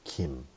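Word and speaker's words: 김: And this G in a girl is exactly how Kim was supposed to be pronounced. That's why in Korea, we say Kim.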